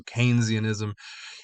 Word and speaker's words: Keynesianism: A lot of people do, but think Christmas time, candy cane. Old people use a cane to get around. So Keynesianism. And we started class about